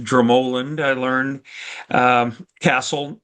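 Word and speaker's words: Dromoland: And so, uh, a couple of others there were Dramoland, it's actually pronounced Dramoland, I learned, um, Castle, not too far away from Adair Manor, and Ashford Castle.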